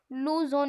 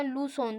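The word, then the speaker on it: Luzon: यानी कि फिलीपीन से लूजन या लू सोन दोनों उच्चारण सही है दक्षिणी पूर्वी एशिया के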